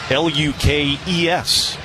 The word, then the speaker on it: Lucas: there on the sinker Lucas spelled like it would be L u cas not spelled that way it is in my score book. So, I say it right.